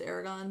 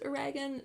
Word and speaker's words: Eragon: time so Air Dragon I think it's actually pronounced Aragon but when I was a kid and I read it I always thought it was a Reagan so a Reagan I don't think I'm